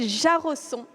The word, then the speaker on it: Jarosson: Donc je vous demande d'accueillir Gabriel Jarosson, parce que ça se prononce comme ça, investisseur privé et business angel, après avoir lui-même créé plusieurs startups.